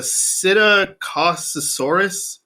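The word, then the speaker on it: Psittacosaurus: found and preserved is the first letter is p but i think it's a silent p uh it's a sita cause thesaurus which i've never heard of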